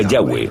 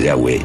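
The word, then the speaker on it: Yahweh: y español son yhw pensamos que probablemente se pronunciaba yahwe o algo así pero yahwe solo aparece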